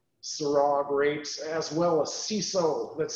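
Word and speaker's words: Cinsault: And it has Grenache, Mourvèdre, Syrah grapes, as well as CISO, that's spelled C-I-N-S-A-U-L-T.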